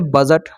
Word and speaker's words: budget: उस तरह से बजट, BUDGET होता है, तो यहाँ पर जी से पहले देखिए डी आया है तो यहाँ पर डी को साइलेंट रखेंगे, तो यहाँ पर बजट पढ़ेंगे, BUDGET, तो यहाँ पर बजट हो जाएगा।